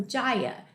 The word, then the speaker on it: Jaya: see oh good uh maya maya with a j thank you for telling me how to pronounce that i try to pronounce